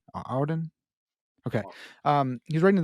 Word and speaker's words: Auden: out loud Auden the the poet it is Auden Auden okay um he's writing to the poet and